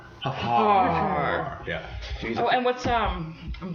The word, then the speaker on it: Hfuhruhurr: Which no one pronounces correctly, but he's pronounced just as you spell it. Hfuhruhurr. Huffar.